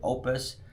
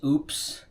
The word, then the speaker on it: Oupes: the Opus Exodus 2400 watt power station. I know it's kind of funny because I've heard people pronounce this as oops or oops.